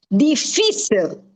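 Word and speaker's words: difícil: Okay, Lolita, I just would like to correct you and say deficil. There is a accent on the fee. Okay. The otherwise what you deficial would be deficial because it ends with an L. But in this word there is an accent always on the fi.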